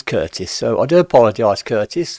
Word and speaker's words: Curtis: And by the way, I keep saying Chris, and it's not Chris, it is Curtis.